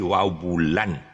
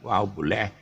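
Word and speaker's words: wau bulan: Wabule is actually Wabulan. Wow is kite. Bulan is moon. But the way they pronounce it is Wabule.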